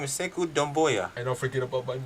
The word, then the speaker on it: Sekou Doumbouya: His name is Sekou Doumbouya.